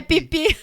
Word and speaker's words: Phi Phi: Muita gente fala Fifi, porque se escreve com PH. Mas a gente descobriu que é pipi.